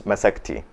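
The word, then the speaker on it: مسكتي: In any case, even if you spell it without the ya, it is pronounced with a little bit of an I at the end. So it's masakti.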